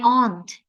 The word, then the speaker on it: aunt: My aunt has karena memang kalau Amerika bacanya kan aunt, my aunt has a number. Tapi kalau British my aunt.